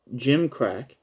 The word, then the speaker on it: gimcrack: his brother, quote, I think I have a gimcrack, Gymcrack.